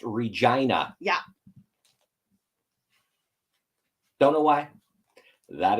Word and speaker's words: Regina: from Canada, that is how our city is pronounced, Regina. Yeah. Don't know why. That is the pronunciation. Yeah. People want to be polite because when they see the word for the first time, they think Regina, it's probably Regina.